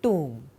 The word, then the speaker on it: tomb: So, the word mausoleum is now used not only for a large tomb, but for any large structure which looks very serious and gloomy, almost suggestive of a tomb.